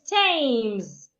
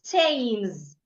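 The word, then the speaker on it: Thames: the H is silent another is tames the H is silent and so many other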